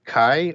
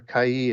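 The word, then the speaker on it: καί: that word is uh the Greek word Kai or Kai as some people pronounce that number 2532 and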